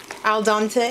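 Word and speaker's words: al dente: pasta according to package directions to El Dante al dante is that it yeah that's how you say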